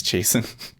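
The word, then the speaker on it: Chasten: His husband's name is Jason. But it's spelled like CHAS, like Chasen.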